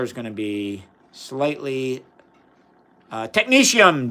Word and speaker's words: technetium: So the water is going to be slightly technetium, Denny. That's how I pronounce it. I think some people say technetium. I say technetium. That's because that's how one of my inorganic professor in undergrad, he studied technetium for his PhD, and that's how he pronounced it.